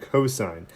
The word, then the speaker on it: cosine: refer to them so it's not sin and cost it's sine and cosine so if we were